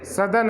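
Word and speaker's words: southern: सदर्न hemisphere. साउदर्न नहीं, सदर्न. ठीक है, सदर्न हेमिस्फीयर, ये उसका प्रोनाउंसिएशन होगा.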